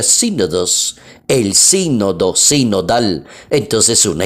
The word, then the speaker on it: sínodos: allí sin o dos Así se escribe sin o dos y se pronuncia sínodos el sínodo sinodal entonces